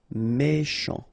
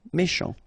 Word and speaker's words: méchant: Final T not pronounced. C-H together, sh. Méchant. Méchant.